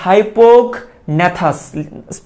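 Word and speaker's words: hypognathous: তো যাদের মুখছিদ্রটা নিচের দিকে থাকে তাদেরকে বলা হয় হাইপোগন্যাথাস। স্পেলিংটা লিখে দিব আমি, আপাতত উচ্চারণটা শোনো, হাইপোগন্যাথাস।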